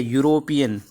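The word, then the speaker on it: European: तो आपका इसका उच्चारण क्या है, ये वर्ड है यूरोपियन। यूरोपियन, ठीक है, यूरोपियन, ठीक है। ये वर्ड है हमारा यूरोपियन। तो ये यूरोपियन क्या है, ये हमारा कॉन्सोनेंट साउंड है।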